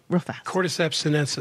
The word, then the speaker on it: Cordyceps sinensis: has this incredible mushroom powder that I can't pronounce cordyceps and senses say that again real cordyceps sinensis and cordyceps sinensis so mushroom powder and it's